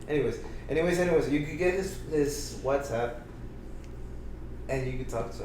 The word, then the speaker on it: WhatsApp: All right, so you could get his WhatsApp, and because it's an app, it's not up, so it's WhatsApp.